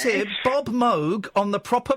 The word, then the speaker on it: Moog: I've got record and he said it's introduced as Robert Moog and he he even says his name is Moo right well we're going